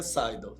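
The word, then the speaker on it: SDL: Isto, isto e a pronúncia é sidal, mas a gente escruta de tudo, né?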